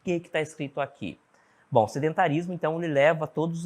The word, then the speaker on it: sedentarism: Vamos ver a primeira definição de sedentarism. Olha só. Sedentarismo, então, né? Sedentarism, final zm, né? Ele tem essa pronúncia, esse SM aqui.